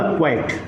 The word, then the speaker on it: quite: क्वाइट।